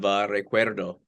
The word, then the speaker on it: recuerdo: By the way, how was my pronunciation of Recuerdo? Because you remember you put me on the spot a few years ago at a press conference. You had me pronounce with the rolled R.